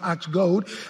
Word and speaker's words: ox goad: I can use this ox goad, it's pronounced ox goad.